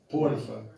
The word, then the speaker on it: Potiphar: and they sold him to, how do you pronounce that? Potiphar, Yeah.